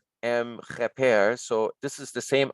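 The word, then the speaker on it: kheper: so it it's pronounced repair and here is an r that helps us to pronounce this triliteral so heper the word means appearance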